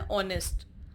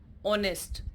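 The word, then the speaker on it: honest: तो ऑनेस्ट का जो फर्स्ट साउंड है वो क्या आ रहा है स्टूडेंट्स? ओ, यानी vowel sound. Are, एच ओ यू are, spelling H से स्टार्ट है कॉन्सोनेंट से, लेकिन साउंड में आप देखिए आर, आ का इस्तेमाल हो रहा है, आ यूज़ हो रहा है, अ.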